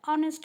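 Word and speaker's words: honest: इसमें तो ज़्यादा डिस्कशन की ज़रूरत ही नहीं है, because H is silent over here. ऑनेस्ट मैन, हम हॉनेस्ट तो बोलते ही नहीं हैं.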